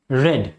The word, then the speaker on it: read: अब इसका पैसिव आप बना सकते हैं, this poem is well when it इज रेड। इसे रेड पढ़ना बेटा, ठीक है, प्रोनाउंसिएशन इसका RED वाला होगा, लेकिन स्पेलिंग इसकी READ ही होगी, ठीक।